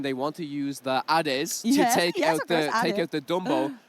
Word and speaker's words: Ade: Because in Italian it's Ade. Ade. I love it. Yes. Ade. So, Ade is the Italian name.